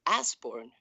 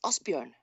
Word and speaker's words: Asbjørn: But the awful thing is that you call him Asborn. That's Osborne. I call him. Osborne, yes, but it's very easy to pronounce, really. Okay. But it's a letter in his name. I understand you, because you don't have this letter in English language. Yeah. And it's Asbjørn.